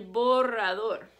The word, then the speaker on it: borrador: When there's 2 R's together or there's an R at the beginning of the word, you roll your R. El borrador.